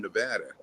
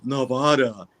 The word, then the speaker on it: Nevada: that you're not from Nevada they are the weirdest it's it's not n Nevada it's Nevada you know oh I've always